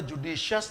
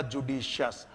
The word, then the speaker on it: judicious: adjectives होते हैं और उनके उच्चारण के आधार पर उनमें य आई का प्रोनंसिएशन नहीं किया जाता बाकी सब जगह पर होगा आई तो यहां पर य आई को छोड़ दीजिए आप तो इसका उच्चारण है जुडिशियस जैसा कि मैंने य लिखा जुडिशियस और इसको थोड़ा सा क्योंकि इंटरनेशनल फनेटिक अल्फाबेट के आधार पर प्रोनंसिएशन चलता है तोय जुडिशियस है और यह सगश है